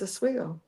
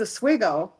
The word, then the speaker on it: Oswego: It's Oswego. Oswego. Oh, so it is Oswego. This is how you pronounce it. This is from my grandfather, who was quite the funny man.